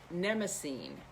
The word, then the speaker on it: Mnemosyne: They were the daughters of, I always pronounce her name wrong, Mnemosyne. Starts with an M, actually.